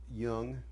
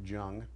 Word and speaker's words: Jung: well you should really read about young at that time I pronounced it Jung and the collective unconscious